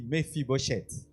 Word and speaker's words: Mephibosheth: La première fois que j'ai entendu ce nom, c'était compliqué à prononcer. Dis Mfibochette.